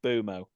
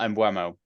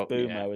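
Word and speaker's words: Mbeumo: It's a Bumo. I'll say not Mbuemo. Oh, is that what I said? I'm sorry. It's Bumo, isn't it? Because that's how he pronounces it.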